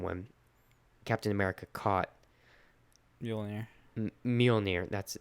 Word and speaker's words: Mjolnir: Mjolnir.